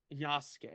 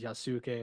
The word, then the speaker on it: Yasuke: that's what it looks I saw someone online complaining about people pronouncing it as yasuke and said it's Yas so I don't know how